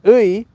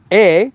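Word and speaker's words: 의: It actually has 3 different pronunciations. Ui, which is, you can always pronounce it as ui if you ever get stuck. E, when it's the possessive marker, and also i in certain situations, and I talk about that.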